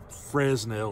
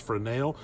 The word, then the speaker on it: Fresnel: framel lens or a Fresnel lens I think it's pronounced for a nail it's spelt Fresno so